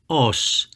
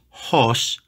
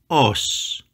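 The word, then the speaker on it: ὡς: means as or like I know there is a rough breathing Mark above the Omega but ignore it do not put an H in front it is not horse It Is Us the third word is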